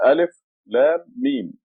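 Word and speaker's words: الم: This sign here is a madda. Means Alif, Lam, Mim. They want you to, when you read it, to extend the Lam and the Mim.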